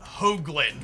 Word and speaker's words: Hoagland: My last name is pronounced Hoagland with a long O sound. Like a hoe down.